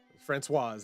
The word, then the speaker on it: Françoise: only child of Fran Fran Francois and uh Françoise I don't know how the female pronunciation is. Françoise, there you go.